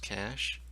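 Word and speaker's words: cache: what's known as cash actually pronounced cash and typically that's attached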